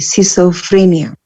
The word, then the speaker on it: schizophrenia: Jadi membacanya C meskipun di situ ada C ya, jadi bukan ski tapi C, schizophrenia.